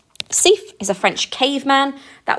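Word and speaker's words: Siffre: is thief's famous cave study his name is pronounced safe he's a french caveman that was his job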